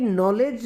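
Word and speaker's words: knowledge: psychology कहते जब की नॉलेज वर्ड है इसमें के व और दी यह भी साइलेंट तीन दुनिया जो है वह साइलेंट मणि है जबकि है क्या नॉलेज है तो लाइफ में के साइलेंट साइकोलॉजी में pisailent और नॉलेज के अंदर के व और दी तीनों ही साइलेंट होते हैं हिंदी में ऐसा प्रावधान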